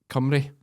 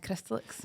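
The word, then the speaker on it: Cymru: Hannah Jacob from uh cry yes which I think is how you say Wales and Welsh is is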